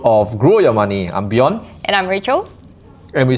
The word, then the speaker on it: Bjorn: So it's like Beyonce pronounced without the say. So it's Bjorn.